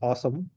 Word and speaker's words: OSOME: I think it's pronounced Awesome, but OSOME is the brand name.